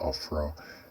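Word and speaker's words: עפרה: It's pronounced Afra, and it's one of the cities given to one of the Israelites, actually the sons of Joseph.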